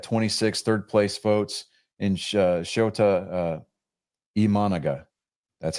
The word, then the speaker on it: Shota Imanaga: Jackson Chourio from the Brewers got 26 third place votes, and Shota Imanaga, that's how he pronounced his name, from the Cubs.